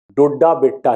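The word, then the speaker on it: दोड्डाबेट्टा: नीलगिरी पहाड़ियों का जो चोटी है वो है दोदा बेटा, इसमें लिखा है डोडा बेटा, यहां होना चाहिए दोदा बेटा, लेकिन आमतौर पे रियल प्रोनाउंसिएशन उसका डोडा बेटा ही है।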